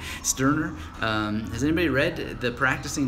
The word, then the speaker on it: Sterner: I pronounced that the German way, Sterner.